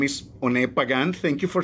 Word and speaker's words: Pagán: having fun uh well uh my name is pagan thank you for saying it right by the